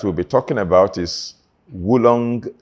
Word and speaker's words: oolong: It is pronounced Wulong as if there is a W at the beginning of that word, but there's no W there.